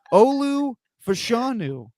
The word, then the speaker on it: Olu Fashanu: Wallace shirt Stephen but I'm saying it right Olu fashanu the Penn State left tackle that's him U